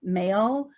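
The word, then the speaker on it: Mael: it pronounced frequently as male 1 well they pronounce it as male so do keep that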